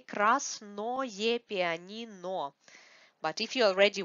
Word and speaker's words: красное: Красное, красное. Because this ое is not stressed, we have stress on а here. We pronounce it like ае.